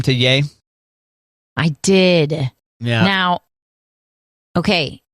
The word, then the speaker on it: Ye: Yeah, there's while some fans thought the name might be spoken as Ye, like Yeezy, reports say that the name is pronounced Ye, like Kanye.